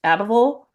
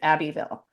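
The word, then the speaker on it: Abbeville: I thought at first that Abbyville would be pronounced Abal kind of like Louisville is pronounced Louisville. No, I asked my friend from Alabama. She sent me a voice memo of her pronouncing it and it's Abbyville.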